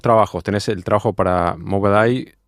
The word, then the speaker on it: Mobileye: Trabaja para Mobileye, ¿cómo se pronuncia? Mobileye.